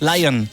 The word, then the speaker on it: Lyon: Ça s'écrit avec un Y. Lion, comme la gare de Lyon.